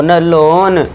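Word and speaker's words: loan: जब वर्ड में ओ ए आए तो ओ ए को ओ से साउंड देना है। ओ ए के लिए साउंड क्या देना है? ओ का साउंड देना है तो इसे क्या पढ़ेंगे? र ओ ड रोड ल ओ लन road लोन लोन road eighth देखिए जब वर्ड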